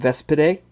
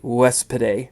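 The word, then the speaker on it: Vespidae: know of is a woman named vespedae uh actually wes piday is how it's pronounced uh she's somewhat older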